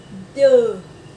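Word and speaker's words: deux: Số 2 chúng ta có cái e và u ghép với nhau thì chúng ta sẽ phát âm là ơ, nhưng mà ơ giống như kiểu chữ ơ dài ấy.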